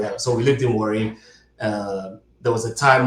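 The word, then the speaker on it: Warri: worry how do you say it correctly worry worry A R I Yeah, Delta State.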